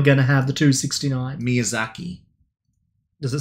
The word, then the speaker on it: Miyazaki: actually says it 285 probably pronouncing it wrong no Miyazaki is correct miyaaki everything in Japan